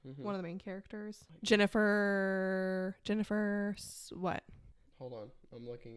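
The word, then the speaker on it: Ginnifer: Jennifer Goodwin. Okay. Jennifer Goodwin. Yeah. Okay. And her name's spelled with a G. I know. So that threw me off when I was trying to pronounce Jennifer.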